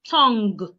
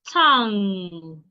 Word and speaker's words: tongue: You can also have king. You can have tongue. Not tongue. It's tongue. Tongue. The G should not be heard.